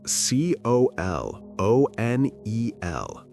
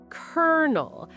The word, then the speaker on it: colonel: Colonel, that's C O L O N E L. Oh, this is a tricky one. Okay, let me try Colel.